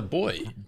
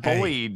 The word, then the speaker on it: buoy: It's a boy. Buoy. Buoy. All right, let's jump. I everyone could aim see for boy, but not boyed with a D at the end.